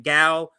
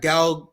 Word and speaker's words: Gal: this um uh actress I think that you say her name gal is how you say